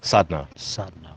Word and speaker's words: Sadna: when i took on my last name sadna uh it was for that purpose and it worked that's how you say it sadness yeah it's from the